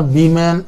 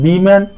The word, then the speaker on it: women: देखिए ये वीमेन, WOMEN, वीमेन plural, जिसका प्लूरल होता है इसका प्रोनाउंस वीमेन पढ़ते हैं, वुमेन नहीं पढ़ेंगे। सिंगुलर होगा तो वुमेन पढ़ेंगे, इसका भी ध्यान रखें।